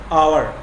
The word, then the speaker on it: hour: Here this word HOUR, it begins with consonant sound, consonant letter, but here H is silent. We begin our pronunciation utterance with this. We pronounce it as our.